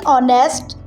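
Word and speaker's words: honest: ई जी मिसाल के तौर पर एच इन ऑनेस्ट ऑनेस्ट में एच डब्ल्यू इन रैप रैप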